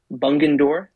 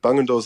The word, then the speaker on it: Bungendore: So I'm going to try my best to pronounce the name of the town you were born in. But sure. Is it Bungendore? That's good. Bungendore's the, yeah, Bungendore.